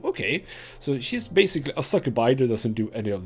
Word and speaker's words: succubi: And Anna goes in and she's one of the fiends, one of the succubi. Not succubi. That's not how you pronounce that. Succubi.